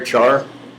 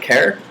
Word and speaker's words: char: is a fish and care is a shortening of character so i will call it care and all of these